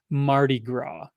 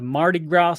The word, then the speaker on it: Mardi Gras: it in the chat it's French and I'm using my Americanized pronunciation Mardi Gras so Mardi Gras is